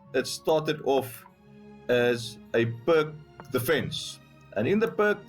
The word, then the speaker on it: Pirc: after knight c3, g6, this is the perk defense, or pirch, some people say. I'll have to ask Hans Stein, a very knowledgeable guy about chess openings, what the correct pronunciation is, but I think most of us say perk.